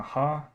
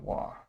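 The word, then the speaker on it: は: this is um hiragana ha and this is hiragana wah Okay so more often than not this is going to be pronounced wa instead of its actual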